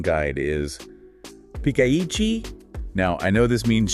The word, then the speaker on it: ピカイチ: The pronunciation guide is Pikaichi.